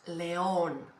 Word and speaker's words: león: L, it's easy. For example, lion, you say in Spanish, león, león, easy.